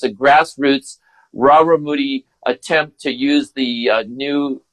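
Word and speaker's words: Rarámuri: I mean, I pronounce it Raramuri.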